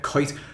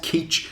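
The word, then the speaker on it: Kuyt: his name is De his name is De kite or de cout or something like that I don't even know how to pronounce it properly myself but I know for a fact that it is not K and I think it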